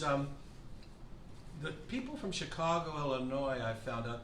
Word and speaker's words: Illinois: the people from chicago illinois i found out they get really annoyed if you if you if you pronounce the s actually it really annoys